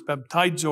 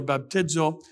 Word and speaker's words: baptizo: It's baptizo or baptizo, however you choose to pronounce it or put the emphasis on the syllable that you would like to choose.